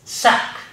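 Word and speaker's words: sacque: which are like this the first one is sac s-a-c-q-u-e it is actually a short jacket especially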